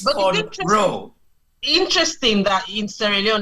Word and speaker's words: cornrow: But the actual name is Kern Rose. Cornrow. And as in corn-row.